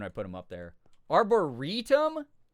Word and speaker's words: Arboretum: The way the Dallas Arboretum is pronounced is Arboretum.